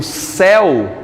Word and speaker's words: céu: é aberta por exemplo eu digo céu o céu o acento agudo aqui em céu é para eu não dizer o quê seu não é verdade ele